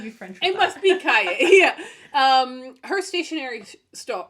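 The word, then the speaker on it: cahier: who whose company is Caye I how do you I I feel like you have to pronounce it in the French way right Cay there's no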